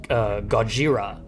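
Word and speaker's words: ゴジラ: English, it just, like Godzilla used to be Gojira. Godjira. It's translated Gojira.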